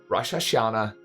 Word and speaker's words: Rosh Hashanah: Oh, Rosh Hashanah. Alright. See, I might not have known about it, but at least I pronounced it correctly.